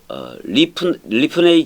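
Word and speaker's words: לִפְנֵי: 말이에요 그 다음에 기브 리프네의 기부 오토 해보세요 근데 원래는이 발음을 살짝 해줘서 리프네 이런 식으로 해 줘야 돼요 자 기부되어 있는데 이게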